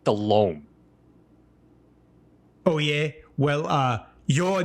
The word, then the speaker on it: Delhomme: You called the Panthers quarterback Jake Delhomme. Yeah. Yeah. Good guy. No, it's Jake Delhomme.